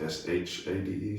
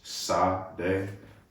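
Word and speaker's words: Sade: Uh, I was just informed it's pronounced S H A D E. Shade, like Shotti, but Shade. Um, I thought it was Sa like it's spelled what?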